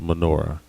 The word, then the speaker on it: menorah: So this is, again, it's a very precise description of how the menorah should be built, or as it's more modernly pronounced, menorah.